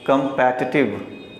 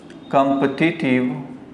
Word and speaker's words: competitive: इसे पढ़ते हैं कंपैटिटिव। कंपैटिटिव, कंपैटिटिव, कंपैटिटिव, कंपेटिटिव। लेकिन जब आप इसे बोल देते हैं कॉम्पिटिटिव तो ये गलत हो जाता है, या इसे कॉम्पिटिटिव बोलेंगे तो भी गलत हो जाएगा। यानी न तो इसे कॉम्पिटिटिव बोलना है, न इसे कॉम्पिटिटिव बोलना है। जब भी बोलना है तो इसे कंपैटिटिव।